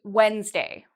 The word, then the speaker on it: Wednesday: Okay, for days of the week, we don't say Wednesday. We say Wednesday. So it's actually two syllables.